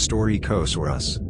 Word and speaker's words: Staurikosaurus: stork asaurus stark asaurus pronounced story coast or us southern cross lizard is